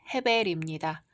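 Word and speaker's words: הֶבֶל: 히브리어 발음으로는 헤벨입니다.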